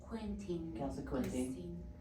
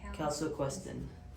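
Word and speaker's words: calsequestrin: Calciquintin. Yes, the calciquintin. Can you pronounce this? How do you pronounce it? Oops. Yeah, it's number 3. Calciquestin.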